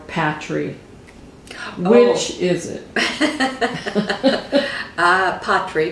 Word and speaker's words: Patrie: which is it uh patri because it's french it's a french name and that that that